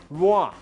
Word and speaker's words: Roi: By the way, Roy in French is pronounced Roi, and it means king.